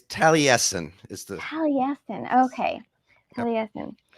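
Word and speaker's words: Taliesin: here thanks for asking me and did I pronounce that right talison West is that where you're working it's Talen is the Talen okay Talen um and just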